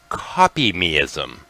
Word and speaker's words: Kopimism: It's pronounced Kopimism, and I couldn't do a full hour worth of research on this one if I tried, never mind 2 hours.